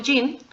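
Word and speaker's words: 人: mexicanos o mexicanas Sería mequis más el sufijo jin que sería con el kanji y aquí el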